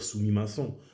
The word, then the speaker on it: sumimasen: Je ne vais pas dire sumimasen, comme Kosambela, je ne vais pas dire Kosombela. Le M, il est doublé.